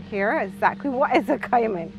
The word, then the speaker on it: caiman: Exactly what is a caiman? Well, we pronounce it as caiman.